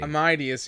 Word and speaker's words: Amadeus: Amadeus, yeah. Amadeus. Amadeus Mozart, yeah. Well, because Bruce Willis can't pronounce the name because he's just a dude.